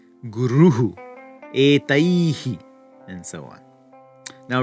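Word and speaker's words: गुरुः: Ramaha, gatihi, guruhu, etaihi, and so on.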